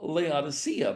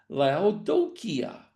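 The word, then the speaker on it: Laodicea: We're going on to what we often call Leodysia, but that's not the way it's even written in Greek. Um, when we were at the site there, uh, Arling asked one of the guides, "How do you pronounce the name of this place?" And we were told la doia which is exactly what we find in the Greek text.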